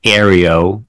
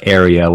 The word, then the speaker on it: Ario: his name being pronounced Aro as an AI r as if it's air Areo and his poetic form